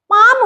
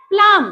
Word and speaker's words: palm: PALM, पाम हो जाएगा, पाम। ऐसे तुम्हें देखने में लगेगा PALM, प्लाम, नहीं, पाम हो जाएगा।